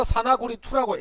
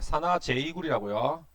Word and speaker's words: 산화 제2구리: 이거 산화구리2라고 읽지 않습니다. 네, 산화 제2구리라고요. 읽을 때 산화 제2구리라고 읽어요.